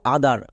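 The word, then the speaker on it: other: ই আর আদার ব্রাদার কোন ওয়ার্ডের শেষে যদি আমরা আদার পাই তখন এর উচ্চারণ করব আদার ওদার না কিন্তু আদার তাই এটা হলো ব্রাদার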